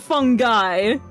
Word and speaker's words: fungi: of local mushrooms and fungi. I'm very thrilled to meet you. Is that the correct pronunciation? Fungi? Because I've always pronounced it fungi. Like, hey, I'm a fun guy.